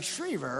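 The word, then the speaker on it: Schriever: while i'm looking at that sucker i'm saying shreever right thank you that's very nice he saw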